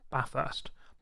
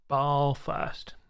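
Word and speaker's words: Bathurst: three Mount Panorama or ba first B first if you want to say it wrong and annoy all Australians and um oh let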